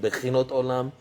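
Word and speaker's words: בחינת עולם: very old book called Bechinat Olam. Some pronounce it Bechinot Olam, Bechinat Olam.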